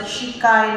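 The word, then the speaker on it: Squay: It's spelled as S-Q-U-A-Y and we are supposed to pronounce it Shikai martial art.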